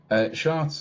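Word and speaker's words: Chartres: year um should be around june time uh charts uh it's spelt c-h-a-r-t-r-e-s uh it's a very old very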